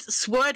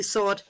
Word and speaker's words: sword: in gold what yeah you don't uh pronounce the w in this sword yeah i used to say it sword when i was younger but yeah it's actually sword sword sword thought i'm